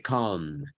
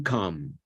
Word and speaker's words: calm: For the ones that were here last night, mucha gente en inglés L is silent. calm. Yeah. La primera Yeah. es la pronunciación más común, calm, Yeah.